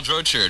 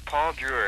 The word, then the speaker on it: Paul Drew: Why don't you pronounce correctly your name for us and tell us what the three songs were? It's Paul Drew.